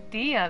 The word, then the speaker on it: Dehya: to find us now wait stand down dia dia that's how you say it oh dear she's